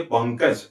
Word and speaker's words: पंकज: तो अनुस्वार का उच्चारण अपने बाद आने वाले व्यंजन के वर्ग के पंचमाक्षर जैसा होगा। ठीक है? तो क के वर्ग का पंचमाक्षर क्या है? अंग है। इसका मतलब इस अनुस्वार का उच्चारण किसके जैसा होना चाहिए? अंग की तरह होना चाहिए। है ना? तो हमें कहना चाहिए पंकज। ऐसा ही हम कहते हैं।